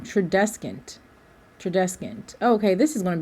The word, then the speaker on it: Tradescant: Yes, and I said his name wrong, Tradescant. Tradescant.